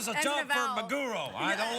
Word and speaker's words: maguro: Is that your accent, or is there really a mago? No, maguro. roll? Yeah, it's maguro. I know. Spell it.